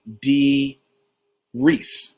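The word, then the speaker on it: Dee Rees: the director is actually d rhys like reese witherspoon it's mentioned in a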